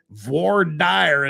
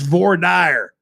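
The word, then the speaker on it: voir dire: they'll be starting of course with jury selection V Dy as they call it out there in Utah which is exactly how you should pronounce it don't don't buy into this Vader stuff it's it's V dire it's V trust me it's VY that's how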